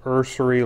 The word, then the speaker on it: Urceri: out here's the box I believe it's pronounced ursery light meter it's gonna